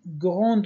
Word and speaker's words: grand: و یک چیز دیگه هم اینجا این گراند میزان دیش معمولا تلفظ نمیشه. اگر اینجا تلفظ میشه چون این گراند میزان چون حرف آخر دی نیست او است. اگر اینجا جمله بعد از گران با وایل شروع نشه بنا گران میگن.